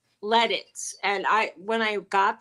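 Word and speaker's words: Lititz: town in Pennsylvania called let it and I when I got there I was calling it Latins and so people like we don't say it like that so I'm like okay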